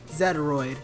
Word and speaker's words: Zetaroid: Zetaroid, sorry. I keep forgetting that it's actually supposed to be pronounced that way.